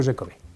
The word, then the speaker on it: Giacomi: Yeah, Giacomi.